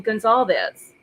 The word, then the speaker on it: Goncalves: gonalves correctly right and don't argue with me on how gonzalves has pronounced it when the man pronounces his last name Gonzalez right I'm not gonna s with a media on how to pronounce something when the man pronounces his last name like that I'm sorry I'm not